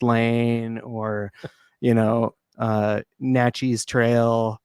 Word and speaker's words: Natchitoches: like Pine Forest Lane or you know uh Naches Trail right so we have a lot of Native American names place names so I saw that there's a Naches yeah yeah uh out here as well and